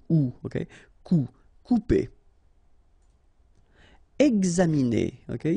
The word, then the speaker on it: examiner: Examiner, okay, it's interesting here because you've got this X and then you pronounce it gz, exa, examiner.